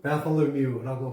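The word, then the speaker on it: Bartholomew: 이건 영어로 말하면 바톨로뮤라고 발음하죠. 바톨로뮤.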